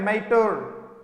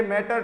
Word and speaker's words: mater: और MATER के बारे में जब कभी भी यूज करेंगे तो उसके लिए मैटर टर्म नहीं, ठीक है, माटर, एल्मा माटर।